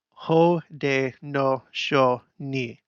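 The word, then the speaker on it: Haudenosaunee: that kayuga Ka Yuka Howden Howden nasauni ho de no knee stress the word with the accent okay okay car you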